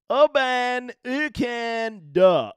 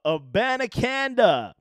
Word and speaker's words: Abanikanda: will be a newy let me help you out man I had to solicit some help aananda aananda you're welcome here